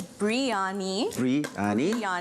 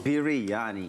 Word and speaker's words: biryani: you heard okay so there's biryani so b-r-e and then there's also um biryani biryani which is b-i-r okay so today we're